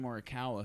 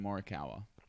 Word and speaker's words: Morikawa: doing no it's a young kid named colin murakawa who just won the pga how do you say his name colin morikawa he just won the people don't i was